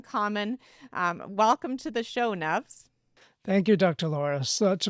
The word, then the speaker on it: Nuvs: Now, let me tell you a bit about this amazing human, Nuvs, which rhymes with loves, by the way, and he loves making a difference in workplace culture.